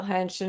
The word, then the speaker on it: Henshin: Works hard wanted to know how to spell henshin, and Princess Tian helped us out with that. For those who are listening, it is Henshin.